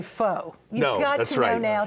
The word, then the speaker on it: pho: Well, you know, nobody has an excuse anymore to say pho. You've got to know now that it's pho.